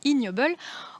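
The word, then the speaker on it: Ig Nobel: d'ailleurs reçu un prix ige nobel prononcé ignoble en 2020 alors ses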